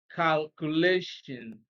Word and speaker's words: calculation: 39, we have calculation. Now, the same rule applies because it ends in ION. Stress is on the second syllable before the last one, okay? Second to the last syllable, and that is C, calculation, calculation, okay?